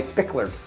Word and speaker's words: Spickard: We are joined in this next segment again with Sally Spickard.